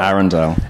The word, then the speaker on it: Arundel: Now, is it Arundel or is it Arundel? Arundel.